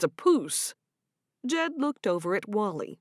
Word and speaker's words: poose: So, it's a poose. Jed looked over at Wall-E, who was standing next to Malachi. Rhymes with goose.